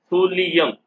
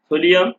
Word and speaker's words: thulium: Pronunciation thulium, not thulium.